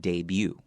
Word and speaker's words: debut: a day and then the t at the end of that word is not pronounced debut all right let's